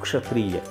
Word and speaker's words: क्षत्रिय: आप इसको इस तरह से समझिए कि आधा का और श, इससे मिलकर ये क्ष बना है।